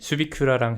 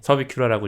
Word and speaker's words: 서비큐라: 서비큐라님이 수비큐라랑 헷갈리시는 분들이 있는데 네. 서비큐라고 읽으시면 됩니다.